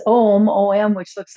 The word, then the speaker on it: Om: It's Om, O-M, which looks like a pretty simple, easy way to say it, but it's actually pronounced as three syllables.